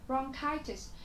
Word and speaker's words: bronchitis: Bronchitis, nó có nghĩa là bệnh viêm phế quản. Và bronchitis thì các bạn thấy trọng âm của chúng ta sẽ là rơi âm tiết thứ hai.